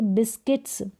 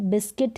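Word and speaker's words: biscuit: यहाँ पर देखेंगे तो आप यू का उच्चारण नहीं हो रहा है, यहाँ पर यू का उच्चारण ऊ हो रहा है, बिस्कुट करके हो रहा है, नहीं हो रहा है, तो बिस्किट और गाइड इस तरीके से उच्चारण होगा। फिर देखें यहाँ पर गेस्ट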